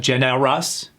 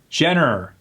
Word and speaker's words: generous: And remember that rule of sometimes killing the vowel before the R. Jenner. It's not generous. Jenner.